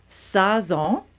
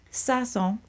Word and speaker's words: Sazón: is the owner of Sazón. Am I saying it right? Close enough. Close enough. I practiced too. Say it for me. Sazón. Sazón. Sazón. Sazón. You're making the O too hard.